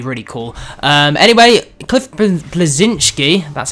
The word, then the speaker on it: Bleszinski: but that'd be really cool um anyway Cliff blazinski that's how you say it actually admitted he